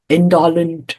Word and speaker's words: indolent: Life cast her seed in the body's indolent mold.